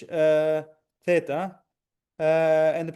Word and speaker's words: theta: Uh the next one is the th sound almost like in English uh theta.